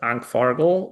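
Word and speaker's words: ANCFARG: the liberation war of and I'm going to spell it in English first, A C F A RG L. Uh that's Ank Fargo, which is the Veteran Association of the Italian Coalition Army.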